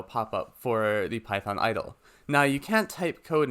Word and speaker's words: IDLE: and learning environment or idle for short pronounced idle to launch this click